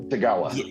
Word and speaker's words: Tagawa: like that like um kerry i can always mispronounce his name the gentleman that plays shang tsung tagawa yes thank you so much he's repeatedly come